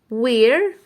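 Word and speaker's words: where: اللي جنبها بتقول له وير طبعا بتقول الاتش اللي بتيجي بعديها اسكتي الدبليو بتقول الاتش اي اسكتي فمش هنطق ساوند هقول وير وير و واتفقنا ان الكلمات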